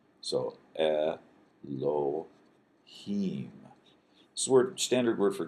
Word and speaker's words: Elohim: then at the Hebrew word Elohim this is e the L is l sound o h and then a long e sound and then a final M or me so elim this word standard word